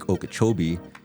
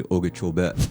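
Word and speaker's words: Okeechobee: Everybody says Lake Okachchobee. For us, proper pronunciation would be Okachobee.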